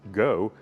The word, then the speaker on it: Geaux: But they were located in Canada and had no idea that G-E-A-U-X, pronounced Go, is a Louisiana thing.